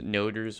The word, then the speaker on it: Oregon: Hello everybody, my name is Noders, and today I'm going to be showing you a complete and full setup for defending Oregon in 2020 Rainbow Six. It's pronounced Noders with a long O.